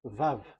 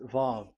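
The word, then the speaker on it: ו: So it's V as in Vogue. So it's really V. How to read Vogue? So the word, the shape Vav is really pronounced V, like Vogue. That is it, pronunciation. So here in this side, it's pronunciation. This is pronunciation. So according to the old Hebrew word today, those who, the owner of the words, I mean, so it's a V. So don't change it into W, and you will say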